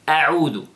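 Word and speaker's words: أعوذ: Now, the first word is a'udu, a'udu. First, you know, notice the hamza, and then after that, ayn.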